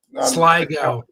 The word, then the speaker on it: Sligo: I mean, there's other variations on it, Well, but somebody's it's the little somebody's bit pointing out pronunciation on that, I think. on Kemet. Oh no, Sligo.